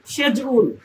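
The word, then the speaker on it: schedule: তুমি বল আবার বল আসলে এই শব্দটির সঠিক উচ্চারণ হচ্ছে সেজউল সেজউল এখানে দুটি সিলেবল আছে প্রথম সিলেবল সেজ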